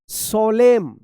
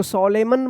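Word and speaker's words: solemn: ओ एल ई एम एन क्या पढ़ पढ़ेंगे सोलेम सोलेम पढ़ेंगे सोलेम इसको सोलेमन मत पढ़िएगा एन जो है ना यहां पे भी साइलेंट रहेगा एस ओ एल ई एम एन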